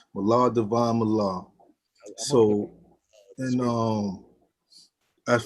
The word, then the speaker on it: Mallahdivine: Mal Divine Mal.